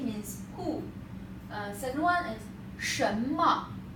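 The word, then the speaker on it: 什么: Second one is 什么. 什么 don't pronounce that 神秘. That's wrong. 什么. That's here. This one is 么. 什么. Make it short because that's a toneless.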